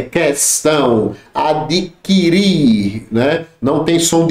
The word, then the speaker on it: questão: Tá errado, aqui é dígrafo, é distinguir, extinguir, adquirir, muita gente fala adquirir, questionar, questão, tá errado, é questão, adquirir, né?